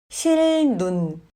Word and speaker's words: 실눈: 실눈. 앞 글자의 받침이 리을로 끝났고 소리가 르로 납니다. 그러면 뒤에 오는 자음 니은은 르로 발음됩니다. 실눈은 실눈으로 발음합니다.